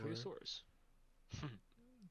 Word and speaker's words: Ankylosaurus: Can't pronounce the O in there. Ankylosaurus. Ankylosaurus. Oh, it is an A.